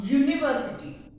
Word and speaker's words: university: Similarly, a university. It starts with U, but it has the sound of a consonant, which is U.